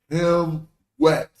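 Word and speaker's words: ḥmwt: Even though what represents the plurality appears to be after the T, in pronunciation, you're going to attach it closer to the root. So the root is him. Then you put a W for plurality, him move, and then T, him wet.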